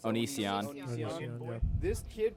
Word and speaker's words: Onision: How do you pronounce that? Onision.